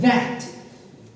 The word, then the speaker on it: that: That. That. This. Those. Good. Very good. This, that, those. Mouth. All these th. All those th. All with your tongues out. Between your teeth.